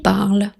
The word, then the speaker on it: parlent: Ils parlent. Verbe parler au présent 3e personne du pluriel. Le ENT final est muet, on ne le prononce pas.